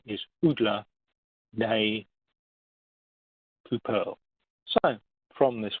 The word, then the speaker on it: Udla: And that's Udla in the Russian. The Y is an U sound, you see a D, and the pointy bits are the L, so Udla.